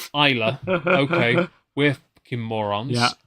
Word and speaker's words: Islay: So the pronunciation is actually there. We could have read that there the whole time. Literally, Islay.